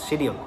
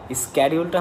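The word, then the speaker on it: schedule: তার উদ্দেশ্যে বলতে চাই দুইটা শব্দই সঠিক। স্ক্যাডিউলটা হচ্ছে আমেরিকান অ্যাকসেন্ট বা আমেরিকান উচ্চারণ, যারা আমেরিকান ল্যাঙ্গুয়েজ চর্চা করে বা আমেরিকান ল্যাঙ্গুয়েজ যারা ফলো আপ করে তারা স্ক্যাডিউল বলে। আর আপনি যদি ব্রিটিশ ল্যাঙ্গুয়েজ বা ব্রিটিশ অ্যাকসেন্ট ফলো আপ করেন তাহলে সেক্ষেত্রে আপনি শিডিউল বলতে পারবেন, ঠিক আছে?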